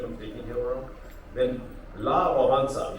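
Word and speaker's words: Wałęsa: taking him around then La bansa you pronounce his name as that but he was a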